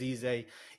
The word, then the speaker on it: Eze: Like Easy, I think it's easy, yeah. Is Eze.